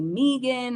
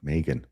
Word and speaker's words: Meggan: So I just tell people the second G is silent because then people want to say Megan or I don't know. They don't know what to do. It gets Right. confusing. Yeah. Right. Megan.